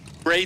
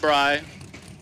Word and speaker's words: Bray: red now we got Bray Tate and Mike Mackey that's Bray not Bry we say it Bray 696 for Bray 668